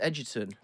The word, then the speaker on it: Egerton: have a surname that's pronounced Edgerton.